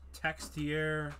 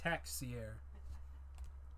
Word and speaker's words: Texier: the Colorado Avalanche cashier textier there's an X there though no no it's taxi air you don't pronounce X is bass Felipe Myers